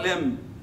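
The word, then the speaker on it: limb: هو بتوع الاناتوم يعني استاذ الاناتوم بينطقها خطا اصلا، هي البي سايلنت يا جماعه، البي سايلنت يعني ابر لمب لور لمب، مش حاجه اسمها لمب، بس احنا خلاص ما هنعمل ايه؟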